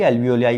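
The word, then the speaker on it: alveoli: एल्वियोली बोलते हैं। एल्वियोली, एल्वियोलाई pronounce करते हैं।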